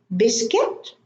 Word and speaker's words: biscuit: Biscuit, it's not like Arabic, biscuit. In Arabic, we say biscuit, but in English, it's biscuit.